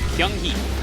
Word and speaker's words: Kyunghee: Kyunghee. Kyunghee? Yeah. Nick pronounced it with a G, and I was like, that just doesn't sound right at all. It's kind of like a softish G.